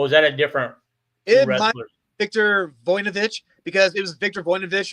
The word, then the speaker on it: Victor Voinovich: Victor Voinovich.